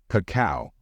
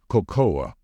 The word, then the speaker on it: cocoa: are not the same non-native speakers tend to pronounce these two parts differently like cacao or cocoa however in English these two parts are pronounced in the same way so the correct way to say it is Coco be careful you didn't